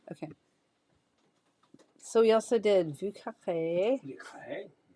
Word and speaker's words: Vieux Carré: That's how our friend who um is from New Orleans pronounces it, Vieux Carré. So, I'm going to actually say that that's correct. No, that's how you pronounce it.